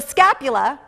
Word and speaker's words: scapula: in on them so the scapula rhymes with Dracula is really the shoulder